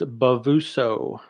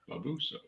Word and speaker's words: Bavuso: It's Bavuso. Bavuso. Just as it sounds, or as it's written.